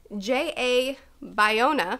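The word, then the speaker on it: J. A. Bayona: means because I certainly do next we have Jay a Bayona that's the correct pronunciation whatever he says he is to direct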